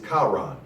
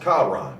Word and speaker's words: Haran: It actually is Charan. It's spelled H-A-R-A-N, but it's pronounced Charan, C-H-A-R-A-N.